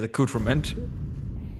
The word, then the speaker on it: accoutrement: I didn't just listen to the pronunciation. It is accoutrement.